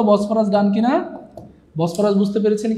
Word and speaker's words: বসফরাস: অনেকে বলছে বস বরাস। স্যার বস বরাস না কিন্তু এটা বসফরাস ফ হবে ফ উচ্চারণটা হবে ফ এইযে দেখেন এইযে বসফরাস ঠিক আছে পরেরটাতে চলে